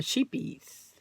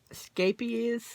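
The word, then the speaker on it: Scheepjes: American friends of mine this is a Dutch brand and it's pronounced Scapes scap is scap is so if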